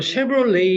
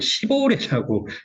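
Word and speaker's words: Chevrolet: 그리고 쉐브롤레이 이렇게 발음하는데 국어로는 이거를 시보레라고 표현을 하고 있죠.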